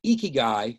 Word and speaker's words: ikigai: really think about uh during this time is ikigai so ikigai and i'm pronouncing correct now is a japanese philosophy and